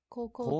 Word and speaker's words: 高校: it's just it's kanji, I guess, how it's kanji are pronounced. So we've got high or tall. Mm. We then have the second kanji you'll recognize from school up here, but it can also be pronounced ko. So I guess we just have koko.